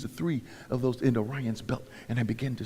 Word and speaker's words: Orion: God and the stars, and they can't even pronounce it right, saying Orion. I say Orion.